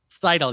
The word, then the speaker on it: Seidl: Is it Seidl? Seidl, yep. I was going to get it right. It's Seidl.